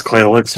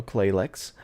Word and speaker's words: Clayx: It's Clayx for the record. I literally rolled my tongue. I've been mispronouncing shit tonight. Anyway, you already know Bonsai and you already know Claylex, but tonight we're going to be talking a